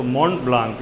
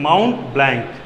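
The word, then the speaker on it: Mont Blanc: TV को silent करके तो मोंट ब्लांक नहीं माउंट ब्लैंक बी एल ए एन सी ठीक है तो वह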